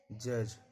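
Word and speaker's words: judge: इसको पढ़ा जाता है ब्रीज, जज, फ्रिज। ई कब साइलेंट रहता है, कोई वर्ड है और जिस वर्ड में लास्ट में ई लगा रहेगा, ई का उच्चारण नहीं होता।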